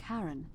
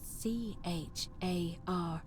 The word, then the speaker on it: Charon: The name you heard wasn't Charon. It was C-H-A-R-O-N, as in Charon, the ferryman of the dead.